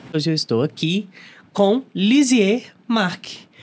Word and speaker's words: Lisieux Marc: ter feito isso hoje eu estou aqui com lizier Mark o psicólogo convidado de hoje primeiro eu quero